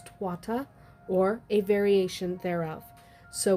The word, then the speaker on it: Tuatha: or some variation thereof not Tua right it's twata or a variation thereof